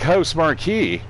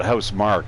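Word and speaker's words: Housemarque: I used to like house Marquee or as some people call it a house Mark but it really Marquee it's spelled Marquee but uh anyways they're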